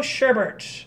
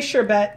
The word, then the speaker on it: sherbet: let's go with rainbow sherbert I know it's pronounced what is it it's pronounced sherbert but it's spelled sherbet I don't know whatever will say sure bet just because that's the